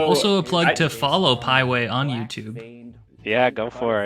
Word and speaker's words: Pieway: So Also a plug to follow Pieway on YouTube. Yeah, go for it. It's spelled like highway, but the first H is a P.